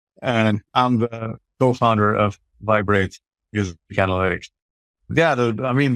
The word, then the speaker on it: Viberate: in terms of vibrate it's actually pronounced as vibrate as a vibrating sound we just put the